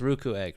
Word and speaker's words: Ruukuegg: I'm doing swell it is called it is pronounced ruku egg right correct yeah okay good we have had